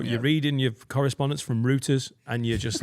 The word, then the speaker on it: Reuters: Not rooters as in like fucking rooting a woman with your No, cock. Reuters. Yeah. Yeah. It's Reuters.